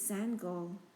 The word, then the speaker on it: Sangoel: My name is Seng go, he said before the coach could say it wrong.